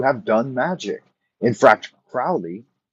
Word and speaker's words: Crowley: done magic in fracture crowley says probably his name rhymes with holy so cruelly alien crowley